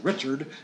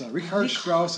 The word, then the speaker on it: Richard Strauss: of music by composer rard Strauss it looks like Richard it's rard Strauss is the correct German pronunciation and it's called an